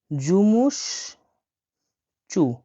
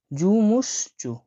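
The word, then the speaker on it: жумушчу: হয় হলো জুমুস চু জুমুসচু জুমুসচু মানে হল শ্রমিক বা কর্মচারী বা ওয়ার্কার। দেখেন আমি এটা ভেঙে দিচ্ছি। এটা জে ইউ এম U. Jumu S এইচ এটা সি এইচ। চরের মত উচ্চারণ হয় চ আর এটা ইউ।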